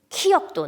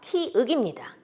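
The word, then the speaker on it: 키읔: 자, 발음을 해보라 시켰더니 키역도 나오고 키업도 나오고 키윽도 나오고 다양하게 나옵니다. 정확한 이름, 사실 발음은 아니죠. 이름이죠. 이 모양을 가진 이 기호의 이 자음의 이름은 키역이 아니라 키억도 아니라 키윽입니다.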